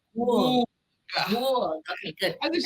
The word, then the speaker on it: Gourgue: So how do you pronounce this one? Gourgue. Gourgue. Gourgue. It does something to your lips. Gourgue.